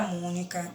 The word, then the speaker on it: Mônica: Na frase tem, na palavra mônica, o acento é circunflexo. Mônica, sobre a letra O, indica um sonzinho fechado.